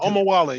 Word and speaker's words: Omowole: Because Yeah, Omowole. Yeah, perfect. okay, good. I keep saying, am I pronouncing it correctly?